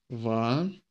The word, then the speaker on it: ваша: Ваша. With the emphasis on and on the first a.